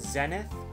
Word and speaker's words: Zenith: I think the English pronunciation is Zenith.